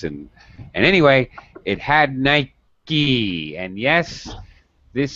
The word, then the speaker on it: Nike: announcement from the company yes it should be pronounced Nike all right so now you know okay uh